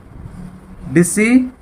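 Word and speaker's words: discipline: आगे देखिए DISCIPLE, डिसिपल, डिसिपल होता है शिष्य, यहां पे भी सी साइलेंट है। डिसिप्लिन यानी कि अनुशासन, यहां भी सी साइलेंट है।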